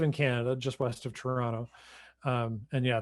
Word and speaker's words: Toronto: canada just west of toronto um and yeah that second t is silent so i want to